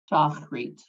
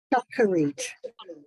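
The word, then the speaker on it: שחרית: Shachrit. Close. Shacharit.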